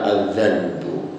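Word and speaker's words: الذنب: itu dalam bahasa Arab Ada kata lain yang hurufnya sama tetapi cara bacanya berbeda kalau ini cara membacanya azzanbu Nah yang satu lagi adalah azzanabu nah itu kalau azzanbu artinya adalah alitmu yaitu ee dosa Kalau adzanabu itu artinya adalah ekor atau buntut dari hewan nah menurut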